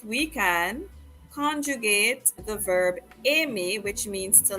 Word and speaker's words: aime: J'aime, il aime, elle aime, on aime. They're all pronounced like the letter M.